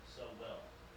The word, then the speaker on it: Sowell: Yeah, do not forget that name, Thomas Sowell. It's like it's spelled like so well.